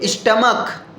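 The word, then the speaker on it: stomach: फिर स्टमक स्टम हां स्टमक का स्पेलिंग जो होता है एस टी ओ एम ए सी एच तो स्टमक इसे बोलते स्टमक सी एच का साउंड का से निकल रहा है तो स्टमक का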